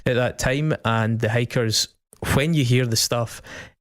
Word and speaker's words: Hykkers: Goat Head has really huge flavours of this band called the Hikers, and it's spelled Hykkers.